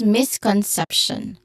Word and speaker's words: misconception: Focusing on pronunciation, focus on the word misconception, which has a stress syllable on the third syllable, sep. So this is misconception.